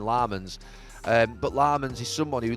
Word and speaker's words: Lammens: I say Lemons and they call him Lammens.